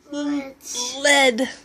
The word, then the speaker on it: lead: heavy metal it's called it rhymes with bed what is it lead lead must be really